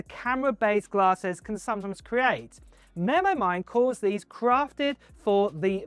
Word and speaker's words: MemoMind: These are the Memo Mind 1, pronounced Memo Mind 1.